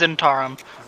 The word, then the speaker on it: Zentarim: Is that how you pronounce it? Yeah. It doesn't give a pronunciation guide. It's Zentarim.